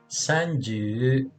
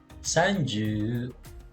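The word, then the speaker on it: さんじゅう: Kung mapapansin nyo, ang bigkas na ng san ay hindi na san, kundi san. Sanju. Kasi nasa gitna na siya ng word.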